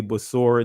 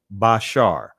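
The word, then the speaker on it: בשורה: Some would say Basor, that's getting into the Israeli pronunciation, but it's Bashar, which means good news, glad tidings.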